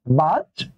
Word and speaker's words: বাহ্যিক: যদি বলি বাহ্যিক, দেখেন তো এখানে হয়ের সাথে চফল আছে না, এটা উচ্চারণ হবে জজ, তাহলে কি হবে বাহ্যিক।